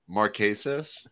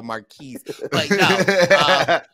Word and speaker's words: Marquesas: uh she she just did i say it wrong marquesas okay that's what i said you made us cousin survivor marquise the sepia is the